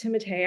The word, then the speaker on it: Timothée: I want to have a small Pomeranian, and I want to name the dog Timote Shalomare, and it has to be pronounced Timote.